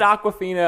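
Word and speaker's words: Awkwafina: The movie is it Aquafina? I feel like we're just naming her as water. No. Yeah. No, that's actually how you say it.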